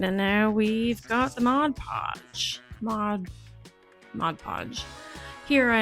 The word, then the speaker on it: Mod Podge: you pronounce Mod Podge for the longest time I'd say Modge Podge like hodge podge and I told my